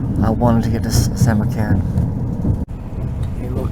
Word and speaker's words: Samarkand: So here I am, Samarkand, that's how they say it in Uzbek, Samarkand, the second largest city in Uzbekistan, on the Silk Road.